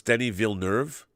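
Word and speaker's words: Villeneuve: says let's not butcher Denise name anymore it's pronounced Denny villuve if you're speaking of French it's viluz um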